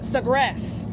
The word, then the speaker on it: Sagres: Okay, the Sagres. Yeah. Is how you pronounce that.